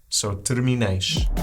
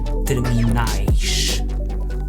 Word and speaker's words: terminais: So terminais. Terminal, terminais.